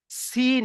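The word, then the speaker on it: سين: এটা হালকা আওয়াজ সিন, এটা মোটা আওয়াজ শিন। ঠিক আছে, তাহলে এই দুটো আমাদের ক্লিয়ার। পার্থক্য কিসের? পার্থক্য হচ্ছে নোক্তার। সি- সিনের খালি, সিন খালি, সিনের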